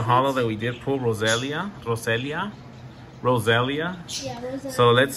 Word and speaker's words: Roselia: Oh, I thought you said Rosalina. No, Roselia. I think how you pronounce it.